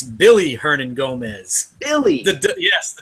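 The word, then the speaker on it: Willy: hey real quick I got a quick it's Billy Hernan Gomez Billy yes W is actually pronounced as of B yes I got a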